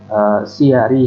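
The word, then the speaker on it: سِيَر: Wa man nazara, dan barang siapa yang melihat fi siyari haula'is sahabah. Ini bacanya siyarnya, siyar itu jamak dari sirah.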